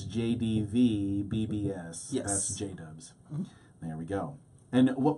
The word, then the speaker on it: JDVBBS: you don't know so when you spell it it's JD V instead of the you so j-dub it's jbv BBS yes J dubs there we go and